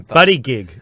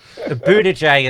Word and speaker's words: Buttigieg: Buddy gig. Butt plug. Isn't it butt gig? I thought it was butt gig. Yeah. Buttigieg is the official pronunciation.